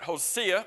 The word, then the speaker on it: Hosea: what do hosea or some would pronounce it hosea which is probably more correct but i think most of us say hosea what do hosea obadiah